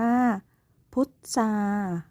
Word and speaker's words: พุทรา: ว่า พุทรา ต้อง เรียน สังเกต เห็น ไหม คะ ว่า คำ ทุก คำ เนี่ย มี พยัญชนะ ทร ควบ กล้ำ อยู่ แต่ เวลา เรา อ่าน ออก เสียง อ่าน ออก เสียง เป็น เสียง ซอ ทุก คำ เลย ใช่ ไหม คะ เสื้อ